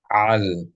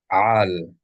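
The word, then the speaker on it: עַל: It's bolded to let you know that this vowel is pronounced with the consonant ayin. If you say al with an aleph, that means don't or shall not. But with an ayin, it's a completely different word.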